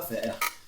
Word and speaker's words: faire: Esse Ezinho aqui não pronuncia. J'ai du boulot à faire.